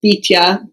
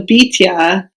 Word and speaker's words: Bityah: Really, the correct pronunciation for it would be Bityah, but because in Chronicles it says Bityah, well, there's a whole bunch of discussion around whether it should be Bityah or Bityah.